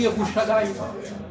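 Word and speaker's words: ירושלים: Donc finalement, par exemple Jérusalem, ils ne disent pas Jérusalem. Ils disent Yerushalayim. Ils n'arrivent pas à prononcer le je.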